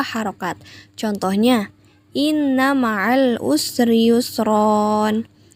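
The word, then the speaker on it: يسرا: Contohnya, inna ma'al usri yusron. Tulisannya yusron, tapi dibacanya yusro karena berhenti atau berada di akhir kalimat.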